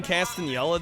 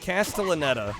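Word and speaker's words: Castellaneta: Dan Castanella does the uh the Hercules. Oh, really? Hideyhoy ho. Sorry, I totally butchered his name. Ho. Casta. Castellanetta.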